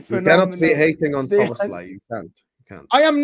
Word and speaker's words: Szoboszlai: The way you have to say that is Szoboszlai right now is the